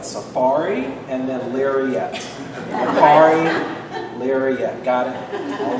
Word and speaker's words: Larriett: rhymes with Safari. We're just talking about Safari in Africa. The last name is larette.